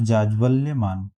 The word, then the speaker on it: जाज्वल्यमान: इसका सही उच्चारण, सही वर्तनी हो गई बी पार्ट, जाज्वल्यमान।